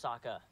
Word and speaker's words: Sokka: My name's Sokka. Rhymes with Akka.